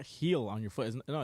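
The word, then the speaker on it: Gil: Jorge you're killing me heel heel heel Luis heel yeah say it more like a heel on your foot he heel no it's not heel on your foot no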